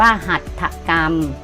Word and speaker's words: หัตถกรรม: พรรณนา อ่าน ว่า พรรณนา สังเกต ว่า พยายาม ที่ ใช้ รอ หัน นะ คะ ว่า อ่าน ออก เสียง เหมือน มี ไม้ หัน อากาศ กับ ตัว สะกด ของ คำ นั้น อ่ะ ลูก นะ คำ ที่ มี รหัน เห็น ไหม เนี่ย คำ ที่ มี รร หัน นะ คะ จะ อ่าน ออก เสียง เหมือน มี ไม้ หัน อากาศ นะ คะ กับ ตัว สะกด